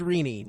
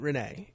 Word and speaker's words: Rene: it's it's reenie and it's pronounced reenie not Renee um fair enough uh